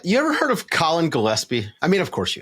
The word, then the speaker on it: Gillespie: So, I'm hoping it's Gillespie, the common pronunciation, the hard G there.